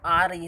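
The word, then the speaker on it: hour: The letter H is silent in the words given above.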